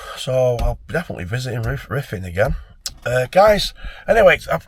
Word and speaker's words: Ruthin: I'm going to put that in the title tonight of this one cuz it's it's it's it's pronounced riffing cuz the user e something he told me roofing.